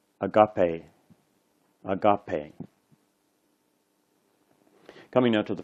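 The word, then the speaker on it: ἀγάπη: This one is a long E, so sometimes we write a little mark over top of it to indicate that it's a long E. So this word is pronounced agape.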